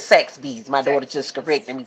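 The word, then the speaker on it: Saxbys: My daughter be talking mom you be saying but I call it sack of bee but I call it sax be well it's sax bees.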